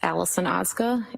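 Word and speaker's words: Allison Ozga: Tell us your name, please, and spell it. It's Allison Oza.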